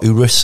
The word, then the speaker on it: Urus: this uh green Air Lamborghini Urus the other Urus as it's correctly pronounced isn't it uh do you call it